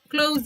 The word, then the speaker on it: close: close the door so this verb close for example close the door close the door i'm cold and you pronounce it with z close the door close